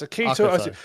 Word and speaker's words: Akito: How'd you spell it? So Akito. Akito. Yes, Akito.